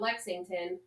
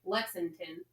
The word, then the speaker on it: Lexington: So even when you say Lexington, you don't have the G. It's not Lexington. You say Lexington. Lexington. Say it.